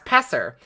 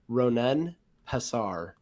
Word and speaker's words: Ronen Pessar: to it I've gotten presser pester Pasar pesar there's all sorts of pronunciations in different parts it's properly pronounced ronen Pasar okay God if I